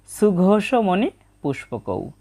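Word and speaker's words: সুঘোষমণিপুষ্পকৌ: প্রথম চরণের উচ্চারণটা পেয়ে গেলাম নকুলাহ সাহ দেবস চা, এবং সর্বশেষ রয়েছে সুঘোষমণি পুষ্পকৌ, বাংলা উচ্চারণের মতোই, তবে দন্তস্বয়ের উচ্চারণটা হবে ছয়ের মতো সুঘোষমণি পুষ্পকৌ।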